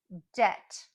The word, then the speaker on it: debt: three times for you debt debt debt that was number one also did you notice the B is silent we done don't say